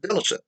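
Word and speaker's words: deLesseps: e s s e p s and it's pronounced delicious villaceps morrison uh was one of the two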